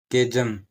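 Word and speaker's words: chasm: cholera होता है कलरा फिर होता कैरेक्टर चरित्र केजम सी एच ए एस एम केजम होगा हमारा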